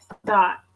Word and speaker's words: thought: Thought. Okay. So thought is the past tense of think. The thought. That's it. Thought. So now we have the normal TH because the other one was though, and this is thought, think.